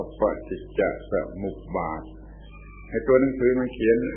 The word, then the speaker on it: ปฏิจจสมุปบาท: เรียก ว่า ปฏิจจสมุปบาท ่ ออก เสียง ให้ ถูก ต้อง ว่า ปฏิจจสมุปบาท ไอ้ ตัว หนังสือ มัน เขียน จะ อ่าน ว่า ปฏิจจสมุปบาท ได้ อย่าง นั้น เอา เสียง ไม่ ถูก ต้อง เอา เสียง ถูก ต้อง ว่า ปฏิจจสมุปบาท แปล ว่า การ อาศัย